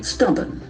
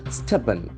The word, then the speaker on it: stubborn: Stubborn. Stubborn. Stubborn. Can say stubborn. There are only two syllables, stubborn. And the accent falls on the first syllable, stubborn.